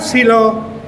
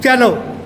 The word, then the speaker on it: cello: It's not silo, it's a cello. It's cello.